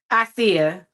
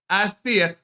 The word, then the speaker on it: Icia: Now, you pronounce it, is it Icia? Icia. Icia.